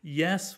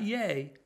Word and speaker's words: ye: Ye without, yes without the S becomes just ye, ye. Not yay, ye.